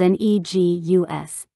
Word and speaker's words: negus: We learned our history and started using negus, spelled N-E-G-U-S, pronounced negus, which means king.